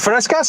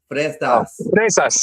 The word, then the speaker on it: fresas: Is it frescas? How do you say strawberries? Frescas, yeah. Fresas, yeah.